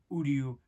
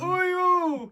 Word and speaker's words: Uryu: We've got Red Hood, The Question, the Talon Owl and Nightwing pack, and then we've got the new Bleach Uryu Ishida, which... Said his name wrong. Uryu!